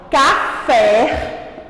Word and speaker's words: café: Quando a tia fala a palavra café, o fé, ele entoa com maior intensidade.